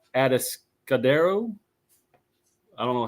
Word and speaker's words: Atascadero: So he goes to a maximum security facility there in California called Atascadero. I don't know how to pronounce it. Atascadero. I would say Atascadero.